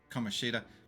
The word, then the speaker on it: Kamoshida: And that's actually how it's said, Kamoshida. But her name is spelt with is pronounced with a different emphasis on the syllables.